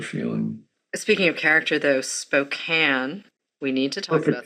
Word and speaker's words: Spokane: Speaking of character, though, Spokane. We need to talk about pronunciation, by the way. Spokane.